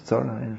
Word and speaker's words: Thoreau: Thoreau. I guess in French it would be pronounced Thoreau, but once it got into English it became Thoreau.